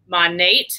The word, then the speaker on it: Monat: So let's talk a little bit about Monat.